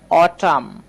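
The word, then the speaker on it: autumn: এবার একটু খেয়াল করেন, এখানে কিন্তু আমরা এই যে বানানটা দেখতে পাচ্ছি, এই বানানের মধ্যে এই ইউ ব্যবহার করা হয়েছে, তাই না। এই জন্য কিন্তু অ এর মতো উচ্চারণ করছি, অ টাম, অ টাম।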